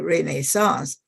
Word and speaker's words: Renaissance: you can say Raines renaissance renaissance and by some people also say Renee sauce but to Renaissance anyway